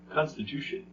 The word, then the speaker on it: constitution: syllables Constitution yeah which one is dressed Constitution Constitution that's right it's the second to last syllable the one right before tion constant to